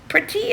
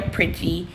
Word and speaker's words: Preti: Pretty. I think that's how he pronounces his last name. P R E T I.